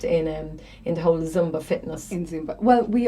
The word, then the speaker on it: Zumba: has to be there instead of zoom zomba it's like zumba zumba and so the classes